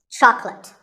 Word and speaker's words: chocolate: this at the store make sure that there are only two syllables chalk and let chocolate and remember there's no late in chocolate speaking of chocolate how